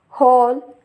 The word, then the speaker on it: whole: And also W is silent in the words which starts with WHO. If we see the examples, whom, whose, whole, etc.